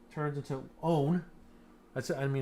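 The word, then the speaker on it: -one: is e turns into own that's i mean it says one but really it's pronounced own right and so here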